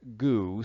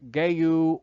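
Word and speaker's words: gheu: Both references agree that the word God is most likely traced to the word gu, spelled G-H-E-U, and apparently pronounced either Geu or Gu.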